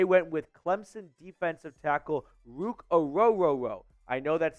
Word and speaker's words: Ruke: bad Scooby-Doo impersonation but his example for pronouncing his name was it's like row row row your boat but no Boat Part just Rook at the beginning so let's get to